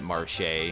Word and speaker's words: Marche: The game does a very good job of setting the tone right from the opening sequence, in which your character, Marsh, or some people pronounce it Marche, has recently moved to